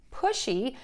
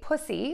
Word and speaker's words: pushy: Hey everyone, Jennifer from Tarle Speech with your pronunciation question. Today's question is, how do I say the word pushy, which means self-assertive or overly ambitious?